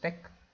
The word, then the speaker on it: TeX: As always, let me just call it sample.tex, and this tex is pronounced tech, and sample.tex is the file that I want to save.